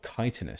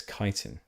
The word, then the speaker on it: chitin: Oh, chitinous, sorry. I believe it's chitin. That's how that's pronounced.